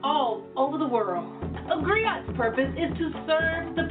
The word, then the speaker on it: griot: It's pronounced griot, or in English, a griot.